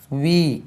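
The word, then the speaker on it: we: வி இதனுடைய உச்சரிப்பு பாருங்கள். W வந்தால் ஆரம்பத்தில் வி, அது உச்சரிக்கக்கூடிய W இருந்தால் வாயை உருட்டி வி என்று சொல்லணும். வி அது வி கிடையாது. வி.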